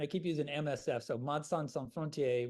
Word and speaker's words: Médecins Sans Frontières: keep using MSF, so Médecins Sans Frontières, which is the French pronunciation.